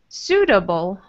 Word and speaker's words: suitable: Uh-huh, so it looks, we have this UI, which is strange, but it's just an OO sound. Suitable. Suitable. Mm-hmm. And this T is like a D as well, which you did. You did that.